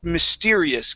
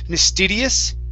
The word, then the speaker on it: mysterious: Let's go to the word mysterious. Give me a good R here. Instead of mysterious, it's mysterious. Mysterious. Okay, almost. You're saying mysterious. Mm-hmm.